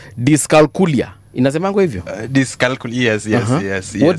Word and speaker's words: dyscalculia: Now, can we just mention, because we have about 7 minutes, hii utanisaidia kupronounce dyscalculia.